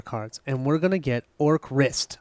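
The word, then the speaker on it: Orcrist: and we're gonna get or crist I think I'm saying it right because it's fist or Crist okay / that's right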